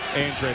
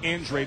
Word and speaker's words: Andrade: His family comes from Cape Verde descent, so they pronounce their last name Andrade instead of the traditional Spanish Andrade.